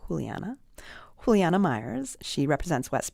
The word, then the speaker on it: Juliana: I thought it was Juliana, but she pronounces it Juliana.